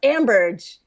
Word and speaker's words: Ambirge: can't tell them that my last name is actually pronounced Ambridge because it is so